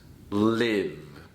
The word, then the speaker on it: live: If I use this word as a verb, it is pronounced live.